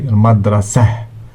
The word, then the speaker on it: مدرسة: which is definite article, ma, d, ra, sa, ti. And when ta marbuta is at the end of the word, we don't pronounce it. We don't say madrasati, we say madrasah.